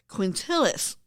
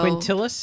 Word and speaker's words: Quintilis: But before it was called July, the month for them was called Quintilis.